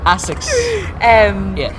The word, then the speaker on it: ASICS: Yeah, so did I pronounce it right? ASICS. What did I say? I don't know. Isaac? ASICS.